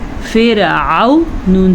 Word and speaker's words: فرعون: اسے فرعون نہیں پڑھ سکتے کیونکہ عین کے اوپر زبر ہے. اس کی اسپیلنگ کیا ہے یا جوڑ کیا ہے؟ فا زیر را فر عین زبر و عو فرعو نون زبر نا فرعون. اچھا بعض لوگوں کو لگتا